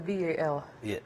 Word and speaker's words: BAL: now concentrated on bowel I'm told it's the Bal apparently that's that's how it's pronounced but yeah okay in